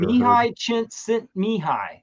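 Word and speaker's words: Csikszentmihalyi: Mihi Chint Mihi is how you pronounce that man's name.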